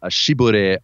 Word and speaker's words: Chevy: Chevrolet like for example a Chevy Astro is like a shib Astro shib yeah that's how they pronounce it it took me a